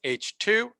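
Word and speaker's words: H II: So we pronounce this H2, and H1 would mean non-ionized neutral hydrogen.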